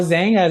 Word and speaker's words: Xanga: a n g a xanga i don't know how to pronounce it oh zanga zanga yeah zanga okay yes I used to